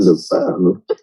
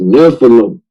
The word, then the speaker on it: Nephilim: It's Nephilim. And then you pronounce it, Lance. You say Nephilim? Yeah, that's why you say the file. And then can't say Nephilim.